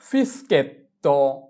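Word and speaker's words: fischietto: তাহলে এস এর উচ্চারণ হবে এস চি আক্কা ই কি এস কি এস চি আক্কা ই এস কি। যেমন ফিসকেত্তো ফিসকেত্তো ফিসকেত্তো মানে হচ্ছে বাঁশি।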